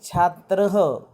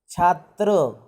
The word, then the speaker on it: छात्रः: उसका प्रोनाउंसिएशन करते समय आपको ह के जैसा करना है. छात्र इतना नहीं करना है, तो छात्रः इस तरह से करना है.